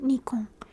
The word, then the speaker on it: Nikon: I get ads on my YouTube all the time for Nikon, and in Japanese they pronounce it Nikon, and it goes Nikon, kamera dake janai.